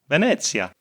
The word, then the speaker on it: Venezia: Reza, perfect pronunciation. Venezia.